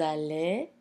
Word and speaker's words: allez: So as you notice, the nous allons, vous allez, double L, but it's pronounced L. It's not long E like in the case of famille and fille.